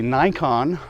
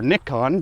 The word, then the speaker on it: Nikon: in my hand is the nikon or nikon depending on what part of the world you're in us in the states seem to pronounce things a little bit differently than everyone else it's the z or